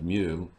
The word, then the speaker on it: mu: the weight of the object the symbol mu pronounced mu is called the coefficient of sliding friction a